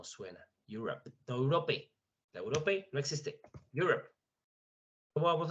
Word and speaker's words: Europe: Europe. Europe. ¿Por qué está sonando la P? Porque la E no suena. Europe. No, Europe. La Europe no existe.